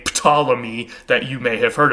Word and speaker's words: Ptolemy: They actually pronounced that P and that T together, whereas in modern English, when we try to say Ptolemy, like I just did, we usually just leave the P off altogether because we don't like